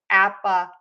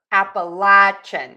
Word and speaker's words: Appalachian: So according to the AI, it's Appalachian. Or Appalachian. So I was correct. You can pronounce that either way.